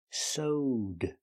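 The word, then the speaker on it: sewed: is soed that's right it's pronounced with a long o soed plus the D sound connected together SED ODed SED she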